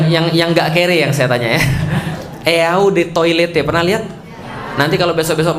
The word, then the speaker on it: eau de toilette: enggak kering saya tanya eau De toilette pernah lihat nanti kalau besok-besok main ke mall ternyata Jangan enggak bayarnya Dirimu sombong banget eau de toilette artinya adalah Ode toilet bacanya e-awb atau Ode saatnya air toilet toilet